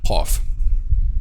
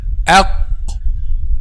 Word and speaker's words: ق: Okay, so our golden rule to pronounce letter Qaf, which is put al-Qaf in the state of a-Sukun, okay, and put Hamza with Fatha before it. Aq, aq, aq, aq, aq, qa, qi, qu, aq.